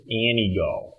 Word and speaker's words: Antigo: How would you pronounce A-N-T-I-G-O? Antigo. Antigo, thank you. The natives in Antigo pronounce it Anigo.